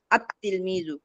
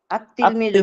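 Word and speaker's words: التلميذ: ঠিক এইভাবে লিখেছি, কিন্তু যখন উচ্চারণ করব তখন কেমন জানি এই লামটা উচ্চারণ হয় না। আত তিলমিজু কি হয়েছে? আত তিলমিজু হয়েছে।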